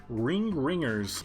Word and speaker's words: RNGers: Next up is the Ringers, which is how you pronounce RNGers.